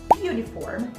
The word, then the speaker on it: uniform: com U, por exemplo, só que a pronúncia delas é you. Uniform, university. Então, para essas palavrinhas, considera que esse U sound é um som de Y e não um som de U.